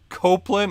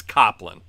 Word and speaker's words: Coplin: It's Coplin. If there was an E after the P, then it would be Cope. But there is no, so it would make more sense to be Cop.